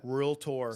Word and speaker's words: realtor: the very few people that has the correct pronunciation of the word realtor yeah so we appreciate you for that real tour so let's just do a quick little game